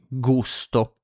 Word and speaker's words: gusto: So same as before, when it's followed by the consonant G, when it's followed by A, O, and U, so A, O, U, it's pronounced like G.